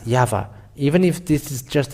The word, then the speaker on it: YAHVAH: So it is up to you to think when the Hebrew, when it is read in the Hebrew, the Yod, Hey, Vav, Hey is pronounced as YAHVAH.